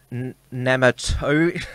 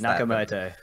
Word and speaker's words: Nakamoto: under the pseudonym as Satoshi nematode I knew I mispronounced Nakamoto yes and I have